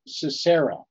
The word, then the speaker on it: Sisera: It's just they put the accent on the first and the last syllable.